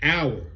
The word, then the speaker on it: hour: the second word is hour no no it's hour like 12 miles per hour but got a h on the H is silent then what is it doing that then